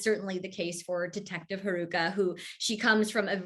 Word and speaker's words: Haruka: monkey okay you play is it haruka is that am i pronouncing that right yeah yeah yeah yeah so uh it's